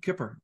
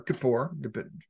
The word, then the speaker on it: Kippur: the day of atonement Yom Kippur or Kippur doesn't matter how you say it so you have